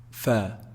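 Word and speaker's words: فاء: But this is fa, fa. Upper incisors with the lower lip.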